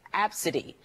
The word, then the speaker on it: Abcde: is filled ABCDE and pronounced AB city this story has generated